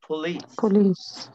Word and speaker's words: police: police. police. تخيل police. ان الشواء شواء اللي هي بعد البي ساوند ديت ممكن تختفي خالص مع النطق السريع.